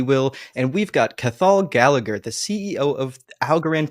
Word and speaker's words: Cathal: It's silent T in there, but it's one of those Irish names.